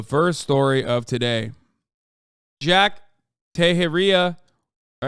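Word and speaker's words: Teixeira: Jack tejeria all right am I saying that right is it Jack tahiria Junior member of the US wait hold on he'll say it right in a second Tashara Tashara Jack Tashara uh is appearing in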